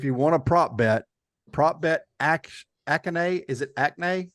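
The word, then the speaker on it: Achane: And if you want a prop bet Akane. Is it Akane? How do you say his name? He's hurt. A-Chain's out.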